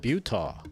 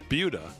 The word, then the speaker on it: Buta: I thought you said Butah. No, Buta. Not Buddha like you call him for 10 years. Buddha. Buta, like butane.